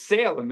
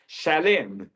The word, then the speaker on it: Salem: they take the sheen they make an s so it's Salem it's really shalim Right?